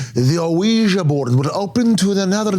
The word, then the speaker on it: Ouija: Is it Ouiji or Ouija? Well, I feel like the pronunciation is Ouiji, right? We But it is Ouija.